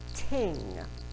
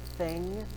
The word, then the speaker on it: thing: They pronounce it ting instead of thing. I read half of Rolf and the Viking Bow saying thing. And then I looked in the glossary in the back, pronounced ting.